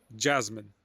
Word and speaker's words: Jasmine: Uh just S is not S, it's Z. Jasmine, yeah.